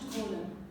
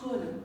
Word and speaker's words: column: In this picture, you can find a damaged column. What does column mean? It is excellent, tall, round thing, and it is made out of stone. Column. Notice that the N is silent. We do not pronounce it.